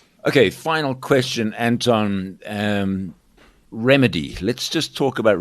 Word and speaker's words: RemiDe: Um, remedy. Let's just talk about remedy. That's spelled re e m i d e.